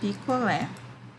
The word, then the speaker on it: picolé: Então, ali a palavra picolé. Qual é a sílaba tônica mesmo? Picolé. É o lé, né?